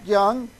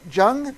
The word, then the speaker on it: Jung: Jung? Is that right, Rob? Young. Pronounce the J like a Y.